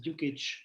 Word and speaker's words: Dukčič: It's a Serbian name. It's pronounced Dukčič, but almost everybody fails.